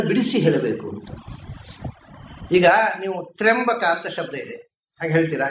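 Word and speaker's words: ತ್ರ್ಯಂಬಕಂ: ಸೊ ಶಬ್ದ ತ್ರಿಯಂಬಕ ಅಲ್ಲ, ಅದು ತ್ರ್ಯಂಬಕ. ಆ ತ್ರಿಯ ಅನ್ನುವಲ್ಲಿ ಯಾ ಅನ್ನೋದು ಕ್ಷೈಪ್ರ ಅಕ್ಷರ, ಆದ್ದರಿಂದ ಅದನ್ನು ಸ್ವಲ್ಪ ಸ್ಲೋ ಮಾಡಿ 2 ಅಕ್ಷರದ ಹಾಗೆ ಉಚ್ಚಾರ ಮಾಡಿ. ಇದು ವೇದಿಕ್ ಗ್ರಾಮರ್, ಅದರಿಂದ ತ್ರಿಯಂಬಕಂ ಅಂತ.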